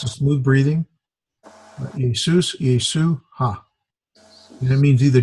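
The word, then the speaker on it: Ἰησοῦ: Well, it would be pronounced as the first letter is this is a capital iota. So there's E, A, sus, Jesus. It's a smooth breathing. Jesus, Yesu, ha.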